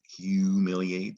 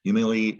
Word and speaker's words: humiliate: the english word humiliate the hu says hue all right so at some point in history english started pronouncing that hu is hue and the u says you right you humiliate so humiliate ends with a silent